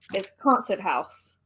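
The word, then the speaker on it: Konzerthaus: And then it's exactly how it is. So it's concert house.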